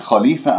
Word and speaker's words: خليفة: كلمة خليفة الخاء مفخمة مرتبة ثانية لأنها مفتوحة، ولا أكور الشفاء أقول خ خليفة، خطأ، خ خليفة، ولما أقف هنا التاء المربوطة راح أقف بها وهذه الهاء باهتزاز الأوتار الصوتية من منطقة أقصى الحلق، فننتبه إليها حتى يجري فيها الصوت والنفس. خليفة، واكسر اللام، ليفة، لاحظتم كيف؟